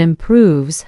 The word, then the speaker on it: improves: Feel how pronunciation has 4 syllables with stress on the 4th one, and improves has stress on the 2nd syllable.